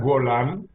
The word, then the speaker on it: Golán: pero el embajador no sé si si se pronuncia así golan o golan embajador me disculpa Buenos días Buenos días Renato se pronuncia golan golan Laura de golán es una zona que